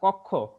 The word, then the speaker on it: কক্ষ: আর দ্বিতীয় আরেকটা কক্ষ, কক্ষর উচ্চারণটা দেখো, ক, ক এর সাথে কোন বর্ণ আছে, অ ধ্বনিটা যুক্ত আছে। কোন ব্যঞ্জন বর্ণের সাথে যদি আকার, রস্বইকার, দীর্ঘিকার, ঋকার এগুলা না থাকে, শুধু ওই ব্যঞ্জন বর্ণটাই থাকে, তখন ধরে নিবা তার সাথে অ আছে। এখানে ক এর সাথে অটা সংযুক্ত আছে, এই অটা ও কারান্ত উচ্চারিত হলো, ক উকার হয়ে গেল।